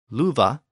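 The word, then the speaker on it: lufu: of the word love louva was spelled l UF a but again the pronunciation was voiced with a V sound now there may be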